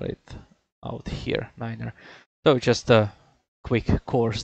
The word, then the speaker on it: niner: we have obviously nine which is ner just spell it out here Niner so just a quick course there yeah and